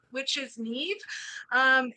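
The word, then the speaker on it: Niamh: my name which is Neeve um it's spelled n a MH um and it rhymes with Steve I know it doesn't look like it does but I promise you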